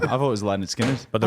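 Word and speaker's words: Lynyrd Skynyrd: Uh, Leonard Skinnard is pronounced Leonard Skinnard.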